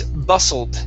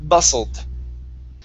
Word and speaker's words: bustled: The word is bustled. The T is silent. Bustled.